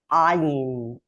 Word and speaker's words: Ayin: You hear that I am pronouncing it like an Aleph that comes from deeper in the throat. Ayin, like a hard Aleph.